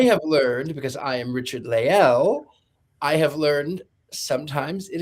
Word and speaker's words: Richard-Lael: Uh, so my first name is Richard Leel.